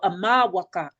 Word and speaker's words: amawaka: So amawaka that or some people pronounce it amawaka they use a r or w I use personally I use the w sound waka because it's more in line with the our most ancient indigenous languages here in North America.